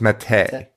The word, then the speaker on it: Mattei: It's Mattei. Well, Tina's maiden name is spelled the same.